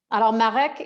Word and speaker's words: Marek: And I love that in French you can roll your R's, so you're saying I'm saying your name the right way.